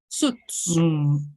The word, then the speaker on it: suits: Suits. The I is silent.